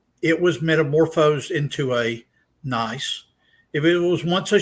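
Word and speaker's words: gneiss: is a rock like nice the g is silent schist got to be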